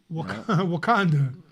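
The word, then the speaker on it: Wauconda: Braden Carlson, Wakanda. Is that how you Yeah, pronounce yes, that? that is exactly how you Okay, man, that's Wakanda, exactly senior.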